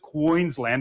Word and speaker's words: Queensland: Thank you very much, Adam, to the sunny state of Queensland, and that is how you pronounce it, Queensland. The emphasis is on the wing.